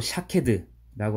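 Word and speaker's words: שקד: 살구나무는 히브리어 발음으로 샤케드라고 하는데 지켜보다라는 히브리어 발음이 쇼케드입니다. 샤케드와 쇼케드.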